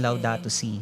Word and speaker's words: Laudato Si: Because we're celebrating the 10th year of Pope Francis' document on Laudato Si.